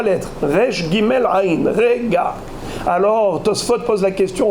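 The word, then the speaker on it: רגע: Et Kama Zarmo Rega, chez Neymar qui Rega Be'apo, sa colère elle dure Rega.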